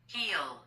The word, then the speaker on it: heal: 그 다음에 이제 요거 hair 그냥 힐 이렇게 하는 게 아니고 heel 느낌으로 발음해야 돼요. 따라서 해보세요. HEA 이거는 치유하다, 낫게 하다, 치료하다, 고치다 이런 뜻이에요. Heal.